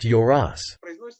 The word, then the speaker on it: Yoros: In Turkish, it is pronounced Yoros. In Russian, of course, we can't say it like that because we always stress the letter yo, while in their language, it is unstressed.